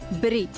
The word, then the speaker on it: Biirii: C, because this place is called सी बिरी। तो BIIRII बिरी इसका प्रोनाउंसिएशन है और ये जीरो में है।